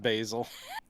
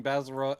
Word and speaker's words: Basil: Yeah, it's pronounced Basil. What? And it tastes delicious in your pasta.